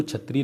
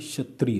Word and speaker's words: क्षत्रिय: जब आप क्षत्रिय बोलते हैं ना, क्षत्रिय, तो इसको क्षत्रिय नहीं बोलते, ये गलत प्रोनाउंसिएशन, इसको बोलते हैं क्षत्रिय। क्या बोलते हैं, क्षत्रिय बोलते हैं। तो का और शा निकलता है क्षत्रिय, ठीक है, ध्यान रखना।